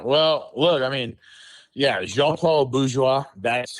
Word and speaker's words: Jean-Paul Bourgeois: Well, look, I mean, yeah, Jean-Paul Bourgeois.